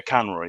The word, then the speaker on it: Conroy: Yeah, Conroy, yeah.